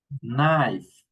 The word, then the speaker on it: knife: We don't pronounce the K this verb of words. So we say nickers knife night needing nap not.